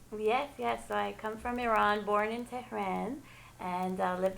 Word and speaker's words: Iran: Can we please pronounce Iran correctly? Thank you, Rina. Thank you. It's something that it's a personal thing that irks me a lot. Yes. Iran invokes an action of running. Iran.